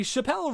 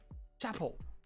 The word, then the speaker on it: Chappell: And your name is going to be Chappelle Roan, because if you can look at this thing and you're going to tell me to my face that she would not...